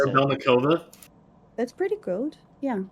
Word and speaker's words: Korabelnikova: Korabelnikova. That's pretty good. Yeah. How do you It's how do you pronounce it? Korabelnikova.